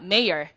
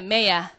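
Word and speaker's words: mayor: 이걸 우리가 미국식으로 발음하면 우리 한번 따라해 보도록 할까요? 메이어. 메이어. 명확해. 하지만 이거는 영국식 발음으로, 아, 미국식 발음으로 잘 안 내. 그래서 영국식 발음으로 R 발음을 안 합니다.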